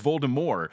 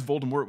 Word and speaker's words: Voldemort: they pronounce words differently Jim Dale doesn't say the T Voldemort he says Valda more and then the Stephen Fry one he says volton work with a harsh T and in the movies